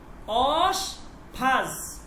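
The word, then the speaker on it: آشپز: ওকে, এরপর হচ্ছে অশফাজ, অশফাজ মানে হচ্ছে বাবুর্চি, অশফাজ, অশফাজ, উচ্চারণটা দেখেন, অশফাজ, অশফাজ, ঠিক আছে, অশফাজ, অশফাজ মানে হচ্ছে বাবুর্চি।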